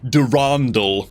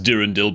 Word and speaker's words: Durandal: We'll actually pull a Durandal, also known as Durandil, but those people just don't know how to pronounce his name correctly, you know what I'm saying, man?